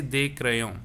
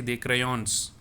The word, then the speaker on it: crayons: pronounce this s instead i will say they they crayon that means some crayons some pencil and crayon so in any of the word i will not stress on this but we should write